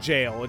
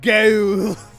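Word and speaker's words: gaol: Well, oh, so it looks like you went to the Apparently, you do pronounce it as jail. That's old English. Oh, okay. So, although I like saying go. Go.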